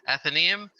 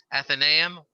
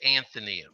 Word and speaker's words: Athenaeum: archaeology um but i from what i understand there are three pronunciations that are correct etheneum athenaeum or the brits seem to prefer athenium so um one that is not definitely not correct is anthony we we hear that